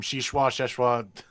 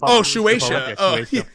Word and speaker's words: Shueisha: But what if there was like the possibility that maybe how do you say the company's name? Sheshwa. I don't know. Shueisha. Shueisha. There he is.